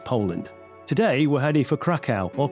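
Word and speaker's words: Kraków: today we're heading for Krakow or Krakow as we were told it's pronounced locally probably Poland's most famous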